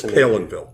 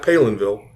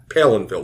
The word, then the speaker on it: Palenville: people say Palenville it's Palenville okay it's not Palenville or it's p Palenville like I'm pale and I live in a village pville Palenville Palenville yeah so wasn't